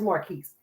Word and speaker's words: Marquis: after 10 o'clock tonight hi marcus or is it marquis i always say your name wrong donor it's more keys hello so yeah i